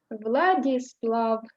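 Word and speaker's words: Владислав: names that end in Slav, you stress this syllable. Vyacheslav, Bavad. Vladislav. Slav is stressed.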